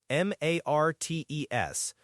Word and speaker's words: martes: That's martes, M-A-R-T-E-S, pronounced martes. And again, if you think of the root, it's connected to Mars, the Roman god of war. So, Mars's day, martes.